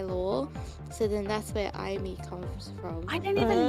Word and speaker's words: Amy: Yeah, so then it's the spelling is Amy, but it's pronounced Imee because I did it for my lore, and I think like I is like it feels like very idly.